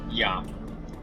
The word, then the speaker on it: ja: I said Ja. I have sinned. It's Ya. It's spelled J-A, but it's more pronounced like Y-A-H.